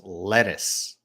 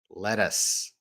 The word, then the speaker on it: lettuce: you pronounce letters verse lettuce uh they sound the same to you letters letters so in american english you can definitely hear that our letter letters lettuce sounds like let us let us letters lettuce